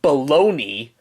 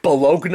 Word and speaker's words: bologna: Like, let's take baloney for an example. Like, in reality, it's pronounced baloney, but when you really look at it, it's spelled B-O-L, I'm sorry, I don't know how to spell it right, but I know it ends with a G-N-A, but, yeah, doesn't it look like it's supposed to be pronounced like Bologna or something?